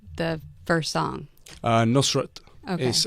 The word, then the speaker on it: Nusrat: Nusrat.